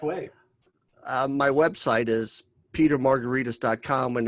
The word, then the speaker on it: Margaritis: I've told you J my last name is pronounced like a cocktail but it's really spelled like an inflammation it's like it should